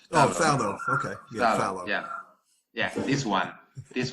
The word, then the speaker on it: phthalo: I never know how to pronounce because it's phthalo. Oh, phthalo.